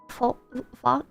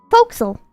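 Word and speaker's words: forecastle: island was hidden or Castle is pronounced more like foxel what Folk Soul folksel XEL thank you thank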